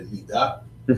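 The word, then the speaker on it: נִדָּה: Okay, so nidah is often called taharat mishpacha, family purity, and nidah is the term that is used. You'll also hear it pronounced nida for the monthly cycle for a woman.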